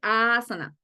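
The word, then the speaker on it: āsana: en la a entonces esa a del comienzo se pronuncia asana y a la última no tiene ese palito asana entonces cada vez que vayan a decir la palabra asana Recuerden que la a del comienzo se pronuncia más alargada que las que vienen y aquí es lo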